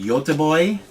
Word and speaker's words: Göteborg: Gothenburg, or what, isn't it, actually, don't you pronounce it Göteborg? I used to work for actually a company, the startup company that I worked for, the owner was Swedish, and he was from Göteborg.